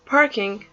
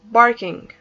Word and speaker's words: parking: okay so now it's very important to pronounce parking PAH parking because if I pronounced it barking barking when I pronounce it barking that means is to come and give another meaning when I say barking that means the sound or the voice of the dog barking bonus a parking